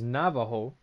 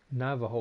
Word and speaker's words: Navajo: and before the prologue Navajo what is Navajo I've heard that time before and I know that it's not pronounced with a J it's pronounced with a H I have no idea